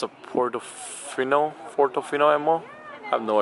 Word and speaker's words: Portofino: ferrari another ferrari we are here it's a puerto fino fortofina ammo i have no idea how to pronounce that portofino how do you pronounce that portofino yeah all right portofino damn bro i need